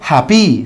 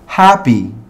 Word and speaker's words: happy: Entonces, yo no digo happy, sino que digo happy.